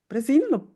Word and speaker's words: Bresin: Bresin, did I pronounce it correctly?